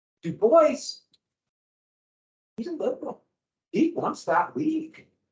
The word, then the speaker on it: Du Bois: Du Bois, using the English pronunciation, the way Americans pronounce his name. Du Bois, he's a liberal.